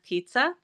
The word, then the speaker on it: Pizza: My name is Pizza. I usually go by. Um, and yeah, we just pronounce it pizza like the food.